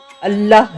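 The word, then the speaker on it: الله: نے پڑھا ہے وہ اللہ ہے۔ اس نام کا تلفظ انسانی زبان میں ایک منفرد موسیقیت رکھتا ہے، کیونکہ اس کے تمام حروف حلق سے ادا ہوتے ہیں، نہ کہ ہونٹوں سے۔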